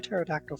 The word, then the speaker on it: Pterodactyl: and I'll just say Pterodactyl for the time being. I was going to say they all started with T, but the P is silent in Pterodactyl.